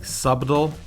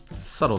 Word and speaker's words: subtle: for a long time I thought that the B in between words were supposed to be pronounced like subdal is an example or dumb turns out it's dumb and subtle dumb I took that basic